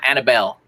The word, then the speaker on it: Anibal: pronounce it incorrectly okay there's two two versions um a lot of people i grew up with call me annabel and it's it's very similar to hannibal like hannibal lecter hannibal the conqueror but